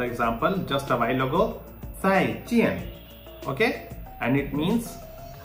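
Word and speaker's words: 再: So how to say zai? Zai. Okay. It is saying that you have to pronounce it like the DS sound in the word yards or kids.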